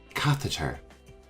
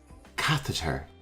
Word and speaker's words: catheter: need our next term is tricky to say catheter catheter let's try it one more time catheter a catheter is a tube that can be